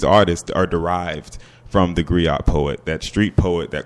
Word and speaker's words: griot: In indigenous African languages, if there's a letter in a word, it's pronounced.